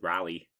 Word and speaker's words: Raleigh: old rally sure um raleigh raleigh raleigh raleigh raleigh north carolina raleigh north kakalaka so we i've always pronounced it rally oh like a rally yeah like a rally like a rally car this is the show